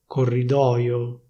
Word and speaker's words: corridoio: They don't say /corridoio/, they say /corridòio/.